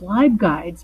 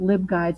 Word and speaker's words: LibGuides: came on she kept referring to them as live guides because library live guides but I had learned